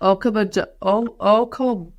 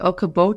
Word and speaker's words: Okoboji: They can find you at Okoboji. You say it so smoothly. Okoboji.